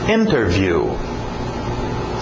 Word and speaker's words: interview: Interview. Interview. Geralmente pronúncia rápida, cai o T, fica só interview, igual internet, né? Interview, sem o T.